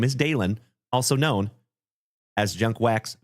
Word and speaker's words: Dalen: My name is Dalen. D A L E N like Dale plus N.